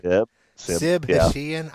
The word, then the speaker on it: Hashian: Hashian, I believe is how it's pronounced.